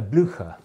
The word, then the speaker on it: Blücher: In the US, the Derby closing style, they pronounce it Derby, it's also called a Blücher, after Marshal Blücher of rescuing Wellington at Waterloo